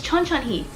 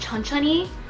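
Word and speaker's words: 천천히: means slowly so i say oh it says chun chun hee and then the girl was like well actually it's pronounced chun chunni and i'm looking at her like i know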